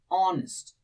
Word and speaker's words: honest: So pronunciation matter, we say it honest.